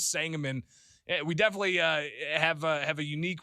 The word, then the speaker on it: Sangamon: And Dave texting right now talking about how to pronounce Sangamon We definitely have a unique way of pronouncing Sangamon County because it doesn't pronounce like it's spelled, right?